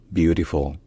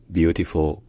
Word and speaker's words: beautiful: retenir c'est déjà que l'accent tonique est sur la première syllabe qui est plutôt longue